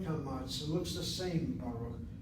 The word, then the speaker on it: Baruch: How do I know that kamatz is an ah sound, not an or sound? Because if this were a short kamatz, it has to be a closed syllable. A resh is one of the 5 letters with the 4 laryngeals that cannot be doubled. So there's no dagesh hazak there. There's no shvanach and niteresh. This syllable is strictly open.